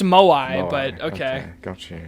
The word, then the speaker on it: moai: is like sitting looking at his screen with the fucking moe as like his actual face.